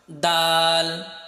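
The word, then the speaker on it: دال: এটা মুখ স্বাভাবিক রেখে হালকাভাবে উচ্চারণ করতে হয়, দাল দাল। এটা তুমি যখন উচ্চারণ করবে, তা যেমন উচ্চারণ করেছিলে, তোমার সামনের যে দাঁত রয়েছে সেই দাঁতের গোড়ার সাথে তোমার জিহ্বার আগাটা লেগে যাবে, লেগে তারপর উচ্চারণ করতে হবে দাল দাল।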